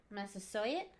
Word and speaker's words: Massasoit: Massasoit. Massasoit? Yeah, like the college.